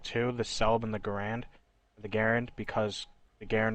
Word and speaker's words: Garand: g43 the cabin the self slaughter and the garand and yes that's how you pronounce it to do a little research on